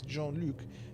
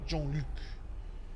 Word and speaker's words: Jean-Luc: I've been to France a lot, but like my French is horrible. But pronunciation, I can do a little bit, but I would say Jean-Luc. Jean-Luc.